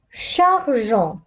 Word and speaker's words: chargeons: إذن نستعمل ننطق الصوت جي. Je mangeais. Nous chargeons.